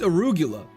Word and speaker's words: arugula: Much love, never pronounce arugula like that again. It's arugula.